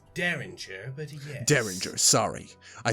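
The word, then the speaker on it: derringer: weapon what you mean the deringer it's pronounced daringer but yes daringer sorry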